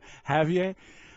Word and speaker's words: Javier: Javier. The J is silent, like in German.